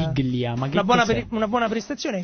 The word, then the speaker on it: Biglia: Da sottolineare il fatto che un'altra buona prestazione di Biglia, come dicono i commentatori, perché lo pronunciano orrendo, no, alla spagnola, sì. Biglia, ma che una buona prestazione.